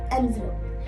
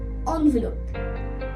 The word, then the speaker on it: envelope: In the US accent, they call it as envelope. But in the UK accent, they call it as envelope.